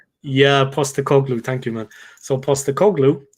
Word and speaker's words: Postecoglou: I can never pronounce his name. The guy that's coaching Tottenham at the moment. Postecoglou. Yeah, Postecoglou.